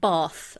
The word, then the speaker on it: Bath: um I should also because I'm obviously English um we pronounce it bath I know that's hard